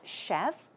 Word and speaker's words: chef: and then we have chef simple to pronounce chef chef as you would pronounce SH yep chef some other words for